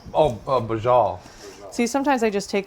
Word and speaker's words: Braciole: How do you pronounce what we're making, Daryl? Pasuda? Braciole. Oh, Braciole.